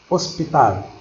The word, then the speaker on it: hospital: en espagnol attaquer cadavres hospital aussi mal l'hôpital pour vous voyez on ne prononce pas h on n'a pas dit aof general hospital aux spirales